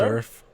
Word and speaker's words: SVRF: How do you pronounce that? Surf.